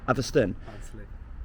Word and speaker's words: Atherstone: Atherstone.